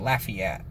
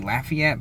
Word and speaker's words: Lafayette: Same thing with Lafayette. Like you got the city Lafayette, but in Mississippi, you say Lafayette. I don't know where they got that from, but so you got a Lafayette County.